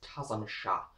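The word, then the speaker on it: Tzim-Sha: In this episode, we do have Tim Shaw, or as I'm going to pronounce his name, because it is pronounced slightly differently in sort of alien language, is Tazam Shah of the Stenza, which I feel like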